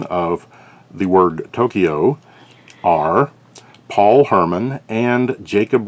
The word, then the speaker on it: Tokyo: pronunciation of the word tokyo are paul herman and jacob roseberry and if you're curious that pr the absolutely correct pronunciation is two syllables only tokyo not kyo but kyo well there you have